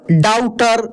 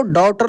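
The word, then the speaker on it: daughter: है बेटी होता है अब डाउटर बहुत सारे लोग कैसे बोलते हैं डाउटर बोलते हैं तो इस तरीके से नहीं बोलना है गलत हो जाएगा दोस्त इसको डॉटर बोलेंगे डॉ भी नहीं बोलेंगे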